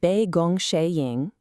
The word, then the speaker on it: 杯弓蛇影: This one is pronounced Be Gong Shing, and it comes from a fascinating tale about a mysterious illness and a very surprising cure.